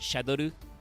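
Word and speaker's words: シャドール: And in Japanese, it's still pronounced Shadoru, which is Shadal or shadow.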